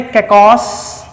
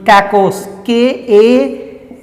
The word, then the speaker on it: kakos: इनको आप तोड़ेंगे तो उसमें पहला शब्द है कैकॉस।